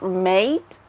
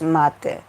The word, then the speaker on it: mate: It's like the word mate, but we pronounce it differently. It's mate. It's a traditional Argentinian drink.